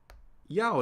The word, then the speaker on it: Yao: tone ya and uh Yao is interesting right in pinion it's spelled y a o we start with the semic consonant initial Y yyy and then we have what's known as a dip thong right we have the